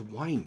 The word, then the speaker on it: whine: The pronunciation is the same as the drink, wine.